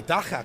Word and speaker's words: dagga: I am here with the dagga couple.